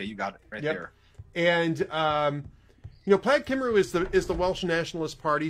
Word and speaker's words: Plaid Cymru: How do you pronounce that? Plaid Cymru.